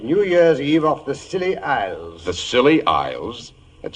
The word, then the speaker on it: Scilly: Well, tonight I thought I'd relate how Holmes and I spent New Year's Eve off the Scilly Isles.